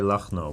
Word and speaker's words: Lagno: And yesterday, I believe, Katerina Lagno. I believe that's correct pronunciation. Lagno. Lagno? I've heard people say Lachno, but Lagno. I think it's Lagno.